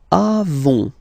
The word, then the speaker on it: avons: Then, nous avons, final S not pronounced, avons, okay?